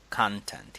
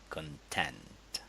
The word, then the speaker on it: content: And you would remember maybe that the stress in nouns is on the first syllable. So that's why we say content here. And if we have a verb, you would say content.